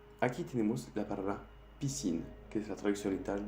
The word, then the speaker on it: piscine: Aquí tenemos la palabra piscine, que es la traducción literal de piscina. Aquí ves que tenemos la S y la C y que hace el sonido S.